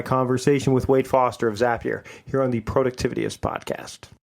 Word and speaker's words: Zapier: And yes, it is Zapier. We get into that in this episode, as how you pronounce that service, as well as a whole bunch of other automated related information and discussion points.